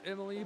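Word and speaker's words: Emili: I'm pretty sure it's pronounced Emily, but I've never seen that spelling.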